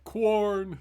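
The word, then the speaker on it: Quorn: way out um yeah corn yes i just saw that but it's actually spelt q-u-o-r-n not k-w-o-r head but i when i say it i say it like the k-w quarrel um but uh yeah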